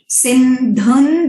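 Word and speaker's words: सिन्धुं: दुरितात्यग्निः, सिंधुम जो है वो अनुस्वर, अनुस्वर का वहां पे साउंड विल बी सिंधुन दुरिता, क्योंकि द जो है वो त वर्ग में है, त थ द ध, और उसका जो है अनुनासिक साउंड है न।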